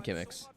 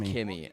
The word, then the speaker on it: Kimix: I'm saying that name exactly how it's spelled. It's just Kimmy.